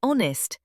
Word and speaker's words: honest: We say honest. The H is silent again.